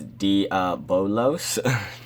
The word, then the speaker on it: Diabolos: It's Diabolos. It's not Diablos.